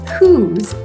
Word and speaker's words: whose: The first sound in the word whose is h and this is spelled with the diagraph wh. And the second sound is ooh spelled with the vowel o.